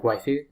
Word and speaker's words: waifu: the joke it's because you'd say like waifu like that'd be how you how a japanese person would say wife but then you have